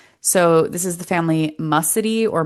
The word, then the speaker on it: Muscidae: So this is the family Mussidae or Muscidae, depending on how you pronounce it. It's a silent C for me normally because you don't say when you say science, you don't say science.